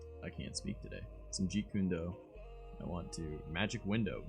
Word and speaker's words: Jeet Kune Do: I'm looking into getting the Jeet Kune Do. I believe that's how it's pronounced. Jeet Kune Do. Hold on, let me look this up real quick. Yeah, Jeet Kune Do.